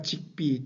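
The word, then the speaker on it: Zigbee: 그 다음에 이제 세 번째가 직비 또는 지급이라고 읽는 이 기술인데요.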